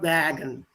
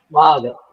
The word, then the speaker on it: Wagen: Ah, not wagon. Wow. People's car for the people. Wagen. Wagen. Wagen.